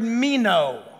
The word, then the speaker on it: meno: abide is the word meno it's a fun word it just it's and it's spelled like it sounds me no m-e-n-o what does it mean